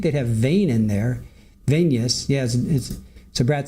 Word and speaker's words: venous: In body, it is pronounced venous, like the word in intravenous.